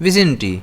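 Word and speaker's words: vicinity: इसको हम प्रोनाउंस करते हैं विजिनिटी। इसमें स्ट्रेस जो है वो एस पर रहता है।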